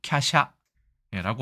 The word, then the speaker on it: 華奢: 그래서 발음 참 특이하죠. 캬샤라고 하면서 재미있게 이게 너무 어려우니까 꽃 화자에다가 술의 차자를 써서도 씁니다. 꽃마차의 느낌이 있죠. 그래서 캬샤라고 하면 이게 화사하다는 뜻인데 무언가 제타크 화려하고 고급스럽다의 뜻을 가지고 있습니다.